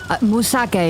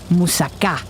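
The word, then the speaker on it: moussaka: Is it Musaka? Musaka is a how foreigners say it, Vincent. You should say it like a Greek. Musaka.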